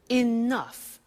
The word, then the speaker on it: enough: enough it's written e.e.n.o you G H the pronunciation is enough what does it mean let me show you